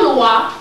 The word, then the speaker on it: loi: But white folks write it L-O-E, L-O-I. Their Lua is written L-O-I. Our Lua is written L-O-A. Both are pronounced the same way.